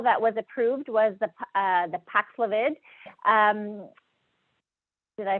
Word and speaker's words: Paxlovid: So the most recent pill that was approved was the Paxlovid. Did I pronounce that correctly?